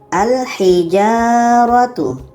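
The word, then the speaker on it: الحجارة: Contohnya, al-hijaratu. Al-hijaratu. Lamnya kita baca.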